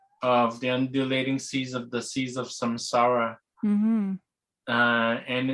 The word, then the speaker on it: Samsara: Samsara.